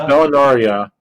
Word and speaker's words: Valinaria: It's Valinaria because it's not supposed to sound like Anaria.